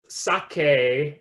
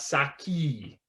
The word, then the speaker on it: sake: here's an important thing it's pronounced sake not saki uh also in that